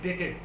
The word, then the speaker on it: debted: है, that is called debted. People normally, they spell it debt, D-E-B-T-E-D, but it is not debt. The word B is silent. It is pronounced as debted, though it is written as D-E-B-T-E-D, but spelled, pronounced as debted.